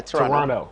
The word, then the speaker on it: Toronto: he was like bro you cannot say toronto the second tea is silent yeah yeah yeah toronto yeah all right yeah